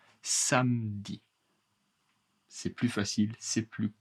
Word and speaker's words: samedi: Le samedi, attention, samedi est la prononciation correcte. Beaucoup beaucoup de français, la majorité en général en France, on ignore le e. Samedi. Samedi. Samedi. Je ne pronce pas e. Samedi.